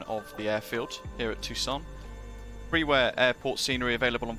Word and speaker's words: Tucson: good afternoon everybody welcome to uh better pronounce it correctly tucson in america in the united states uh k-t-u-s